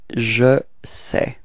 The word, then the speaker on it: je sais: Je sais. Okay, so you can see that we've got a final S, but as usual, we don't pronounce it, so it's je sais, alright?